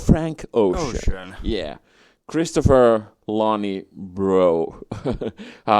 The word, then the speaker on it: Breaux: Christopher Lonnie Bro. It's written like Breaux, so I have no idea how to pronounce me neither, yeah. But I think it's like pro because it has like AUX on the end.